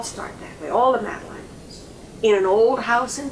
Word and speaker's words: Madeline: The smallest one was Madeline. See, it rhymes, shine and Madeline.